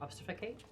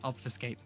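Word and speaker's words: obfuscate: Obstificate. Okay. Obfiscate. What? It's pronounced obfiscate, my darling.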